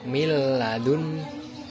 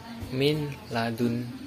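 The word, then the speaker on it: مِن لَّدُنْ: Idgham bilagunnah yaitu pertama cara membaca yang benar yaitu miladun bukan min ladunka bukan itu salah menjadi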